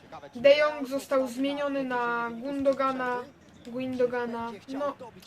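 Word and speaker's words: Gündoğan: De Jong został zmieniony na Gundogana, no różnie mówią na niego. Chociaż ja wymawiam Gundogan.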